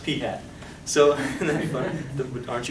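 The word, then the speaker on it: p̂: It's pronounced P hat.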